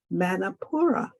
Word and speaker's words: Manipura: The Sanskrit name, which is, and forgive me if I'm mispronouncing it, but this is how I see it as being pronounced, Manipura.